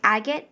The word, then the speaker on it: agate: This blue one is just a darker blue color, and it's Agate Blue. And that is how you pronounce agate.